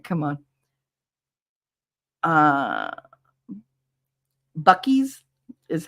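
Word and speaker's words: Buc-ee's: Bucky's is how it's pronounced.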